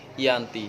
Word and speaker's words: Giyanti: Februari 1755m Hai nama Gianti sendiri diambil dari lokasi penandatanganan perjanjian yakni desa di Desa Janti dalam pelafalan Belanda ia tersebut sebagai Yanti Hai dan secara tertulis ia terbaca sebagai Giyanti tempat tersebut sekarang dikenal